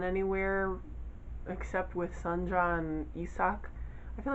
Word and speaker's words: Isak: except with sun john isak i feel like that's how you pronounce his name because i can read hangul and the way that it's spelled in the book makes me think it's pronounced yusak um it's good but